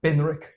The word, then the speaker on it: Benrick: Thus saying my real name is Benrich and it's not how you say it properly. That's the English pronunciation. Uh closer would be Benri.